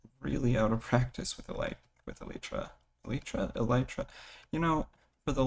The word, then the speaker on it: elytra: I'm pretty sure if I remember my bio teacher correctly that is pronounced Elytra.